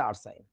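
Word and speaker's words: arsine: ব্যাটা এইডারে কয় ফসফিন তার তো এটারে আরসিন কওয়া উচিত ছিল কিন্তু সেটারে আরসিন বলে না সে বলে হচ্ছে আরসাইন মানে আমাদের দেশের বইতে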